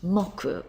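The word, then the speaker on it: 木: tree here it is up here and it's pronounced mocku when you use it in a day of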